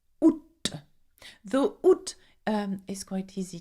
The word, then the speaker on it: août: Août. Août. Though août is quite easy to pronounce.